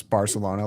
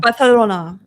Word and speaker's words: Barcelona: Do you pronounce Barcelona like uh Barlona? Bartholona. Are you Spanish enough? Yeah. Barcelona. Okay, there you go. That's how you say it. asked and answered.